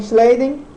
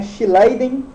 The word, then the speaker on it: Schleiden: Matthias Jacob Schleiden, né, Schleiden, né, a pronúncia aí, era um botânico alemão, e Theodor